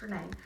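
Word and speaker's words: Rinne: Looks like Ryan, it's pronounced Renee.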